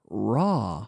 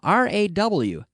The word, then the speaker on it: raw: In terms of meat, we say raw, or also with vegetables, raw, R-A-W, raw, raw. We don't say raw, but raw. So you leave your mouth open to pronounce this raw.